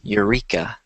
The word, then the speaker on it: Eureka: on is this word which the e is silent so it sounds like this Eureka Eureka uh-huh it was